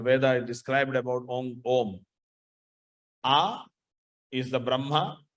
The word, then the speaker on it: Om: When you break in, when you separate it, a u ma, but when you pronounce it, you have to pronounce Om. Not Aum.